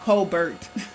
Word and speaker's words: Colbert: Colbert, it's spelled Colbert, but he likes to say Colbert.